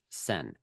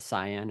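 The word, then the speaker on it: Seine: going to add the river in Paris is pronounced sen it is the sen it's not the cyan it's not the Cen it's sen French really get upset I understand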